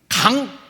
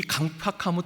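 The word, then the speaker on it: 강퍅: 근데 용서가 또 어려운 것은 상대방에게도 문제가 있을 때 용서가 어렵습니다.이 이 타인이 상대방이 강팍 발음을 자아야 돼요. 강팍이 아니에요. 나중에 여러분 한자 팍자가이 완악할 팍 야 야예요. 팍이 아니고 어 국어 맞춤법도 아세요?이 이 강팍함이 있어요.이 완악함이 있어요.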